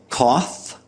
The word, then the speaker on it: cough: and bought in others it was converted to a voiceless labio Dental fricative AR Ras between the teeth and lips that now sounds like an F sound in words like cough and enough so that's why some